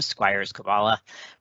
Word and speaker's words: Skwiers-Koballa: at a later time that is how you pronounce my name squires kabbalah my pronouns are he him if you find